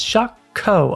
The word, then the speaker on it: Shokew: series Victory Gundam yeah it's shock Co apparently not exactly the pronunciation you'd expect but you know it's